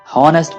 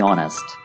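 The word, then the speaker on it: honest: बी ऑनेस्ट बाज ओकात इसको नेस्ट बोल देते हैं जो कि गलत है यहां पर एच साइलेंट है बी ऑनेस्ट अब चकि हम बी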